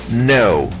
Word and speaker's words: know: no saber cuando vemos una k y una n juntas la k no se pronuncia como en esta palabra no no saber la palabra follow follow